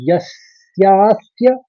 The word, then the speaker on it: यस्यास्य: के संग मव्य मव्य फिर यस्यास्य देखिए यस के संग स का आघात लिया फिर सस्य कहा तो आखरी में भी दो स का उच्चारण आएगा वो आप समझिए जैसे